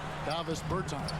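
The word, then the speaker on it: Dāvis Bertāns: Oh, well, now, at this point in my life, it's Davis Bertans. Is that how you say his name? Yeah. Davis Bertans.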